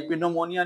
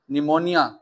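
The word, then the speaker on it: pneumonia: लेकिन निमोनिया, निमोनिया के spelling में पी आपके पास साइलेंट होता है, ये पिनोमोनिया नहीं होता बच्चे, निमोनिया, निमोनिया।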